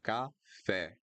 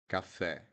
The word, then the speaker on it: café: So we had escola, e, and then we have café, café, café. It needs to be open. The open e, café.